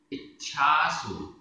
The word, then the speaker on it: इच्छासु: इच्छासु, इच्छासु आधा च छ, इच्छासु।